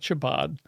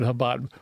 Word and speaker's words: Chabad: acceptance and awareness of habad and it's not Chabad right I know I'm not pronouncing it perfectly but habad what when you when you when you put